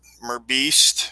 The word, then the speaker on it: Merbeast: And we've got Merbeast, that's how I pronounce his name.